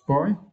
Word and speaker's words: buoy: notice about the worst this buoy she also can pronounce boy yeah clinging to a